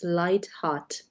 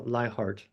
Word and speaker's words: Leichardt: said you how you you pronounced your last name as lightart uh liart oh I heard light heart is that the English translation no I mean it's